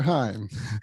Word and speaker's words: Heim: And this is Climb to Your Prime with Dr. Heim. It rhymes.